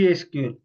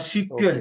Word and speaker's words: SQL: और it's okay pronounce like C एसक्यूएल, एसक्यूएल, एसक्यूएल और सीक्वल, okay इसको सीक्वल भी बोलते हैं।